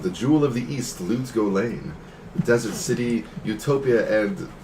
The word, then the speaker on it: Lut Gholein: But could you spell that? yeah, L-U-T, Lut, and then Gholein is Gholein. Pretty. Lut Gholein.